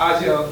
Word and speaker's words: Ajo: Nathaniel Oluwafemi Ajo, how you pronounce it? Ajo, okay.